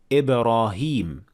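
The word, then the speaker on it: إبراهيم: in the holy quran it was written without they ye but it is still pronounced as ibrahim like in this example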